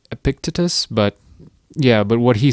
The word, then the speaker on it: Epictetus: I believe his name's pronounced Epictetus, but what he said was that men are disturbed not by events, but by their opinion of events.